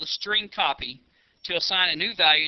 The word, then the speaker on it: strcpy: following line of code St cpy which is pronounced string copy left parentheses and then the name of the